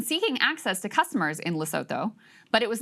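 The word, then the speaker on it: Lesotho: Oh, you don't say the the th I'm sorry I didn't I didn't take the loto.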